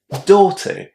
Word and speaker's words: daughter: So, regardless of whether you choose to say daughter or daughter, you need to remember that the first syllable in this word is pronounced with a nice long O.